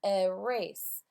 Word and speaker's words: erase: Erase. I wrote the wrong letter, so I erased it. Erase. Now, this word also has a schwa. That vowel is a schwa.